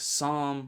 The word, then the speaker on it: psalm: Silent P appears before S. words like psalm, psyche, psychology. Also in Greek medical prefixes like pneumonia, pneumatic and in irregular words like raspberry, receipt, pterodactyl. Most come from Greek or French spellings.